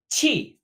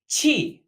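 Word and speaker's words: 气: planes they to fly chi chi pronounced a lot like 7 with a falling tone this character means air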